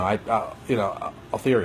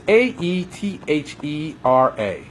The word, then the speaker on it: Aethera: You know, Althera. Althera? Is it? Pronounce it. It's Aethera. Aethera?